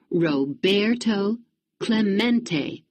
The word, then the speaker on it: Roberto Clemente: Roberto Clemente was his name and this is pronounced Roberto Clemente as if to introduce himself Roberto smacked the